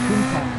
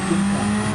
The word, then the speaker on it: Countach: And it's Countach, guys, not Countach. The Italian dialect from the region of Italy where that LP 400 Countach in front of us there. Was designed and created. The Italian dialect pronounces it Countach, which means when some